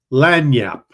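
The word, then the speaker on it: lagniappe: of that one I can't remember how to pronounce it that is lanap it is a small gift or something extra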